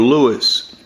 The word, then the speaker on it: Louis: Is it Louie or Louis? Well, you know, people, his name is Louie Goldstein.